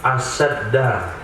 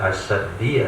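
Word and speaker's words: أَشَدَّ: Dibaca nasab asyadda. Nah, ini berbicara tentang ilmu nahwu. Kenapa bacanya asyadda, enggak asyaddi atau asyaddu?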